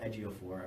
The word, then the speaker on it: Ejiofor: name is cute little Ejiofor I believe is how you pronounce it he was also